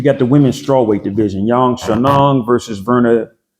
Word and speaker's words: Xiaonan: Xiaonan versus Virna.